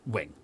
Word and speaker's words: Ving: And so you have to know that V-I-N-G, you got to pronounce that Wing.